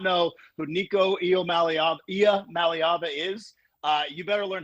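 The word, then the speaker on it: Iamaleava: to know that Nico's last name is not pronounced Aluma Lia because you solved a big problem for me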